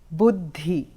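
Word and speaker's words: बुद्धि: is a d so one has aspiration and the other doesn't so bud there's a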